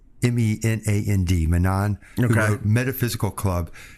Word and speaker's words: Menand: And I drew heavily from Louis Menand. I think that's how you pronounce his last name, Menand, Menand, who wrote Metaphysical Club.